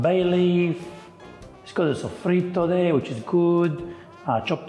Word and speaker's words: soffritto: first we're gonna prep the soffritto. Now, Yeah, good pronunciation, bravo.